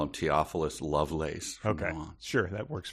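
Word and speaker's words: Theophilus: class presidents and her crushes deep weary sigh theophilius love laces and i prefer to call him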